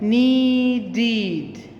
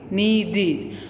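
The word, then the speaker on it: needed: it is pronounced like knee deed okay knee deed so you can hear that the sound at the end is ed so we put it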